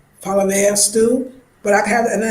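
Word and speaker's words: palaver: Remember, that had the fish in it, and I know that was the Pablo stew. I know I'm saying it wrong, Palavea stew.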